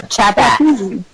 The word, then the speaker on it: Chappuis: Facebook, Chappuis, Chappuis. Chappuis is how it is spelled. Chappuis. Yep, that's me. Or Chappass. Chapass.